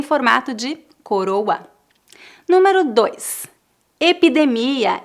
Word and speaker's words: epidemia: de coroa número dois epidemia e pandemia presta atenção que a sílaba tônica dessas palavras a no final epidemia pandemia as palavras terminadas com